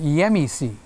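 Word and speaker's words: γέμιση: It's called in Greek, I don't know how to say it in English, it's called yemisi. Yemi, like yummy, but with an E. Yemi, si.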